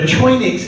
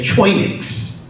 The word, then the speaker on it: choinix: The term for leader in the Greek is a choinix, C-H-O-I-N-I-X, which is not obviously the Greek letters, that's how you pronounce it, which is roughly